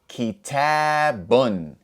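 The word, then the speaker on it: كتابٌ: So, if we read all of these letters together, we would say kitabun.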